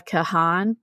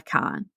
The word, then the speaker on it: Kahan: so it's not Noah Kahan like I said in the previous episode it's Noah Khan apparently the a is silent as I learned in